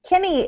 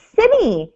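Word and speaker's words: Cimmy: It's not pronounced Kimmy. It's pronounced like cinnamon. So it's Simmy.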